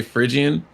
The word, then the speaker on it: Phrygian: Okay, so yeah, the name's Phrygian. Phrygian. It's how I break it down to people is, obviously, it's like pronounced like fridge, like your Fridge. Yeah. refrigerator, and then the name Ian.